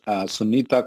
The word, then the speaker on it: Sunita: name sunita kapoor you can google it out sunita kapoor it is spelled as s-u-n-i-t-a kapoor our office doesn't do